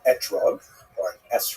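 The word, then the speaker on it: אתרוג: We all know that the correct fruit to bring is an etrug in the Ashkanazi pronunciation.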